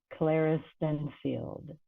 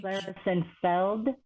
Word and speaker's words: Klaristenfeld: that almost perfectly thank Claris Feld is that Feld it's it's It's Tricky it's okay it's uh it looks scary but it's it's pronounced exactly as it's spelled so almost 100% of